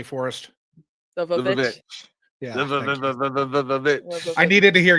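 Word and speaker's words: The VVitch: We did our longest after party ever for the witch, but can you please pronounce it correctly for us? The Vavitch.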